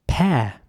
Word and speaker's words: pear: Pear is next. Pear is spelled P-E-A-R, and it's pronounced pear. The interesting thing here is that you don't really pronounce the E at all.